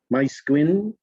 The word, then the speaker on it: Maesgwyn: And then line 5, page 5 is Maesgwyn, with the accent on Gwyn.